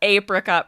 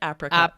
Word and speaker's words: apricot: And an apricot pie. Lindsay would have said apricot pie. Apricot, right?